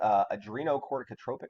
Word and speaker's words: adrenocorticotropic: Good luck pronouncing this one, but it's pronounced adrenocorticotropic hormone, right?